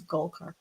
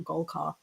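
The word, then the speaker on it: Golcar: It's Golkar, not Golkar, as I said incorrectly.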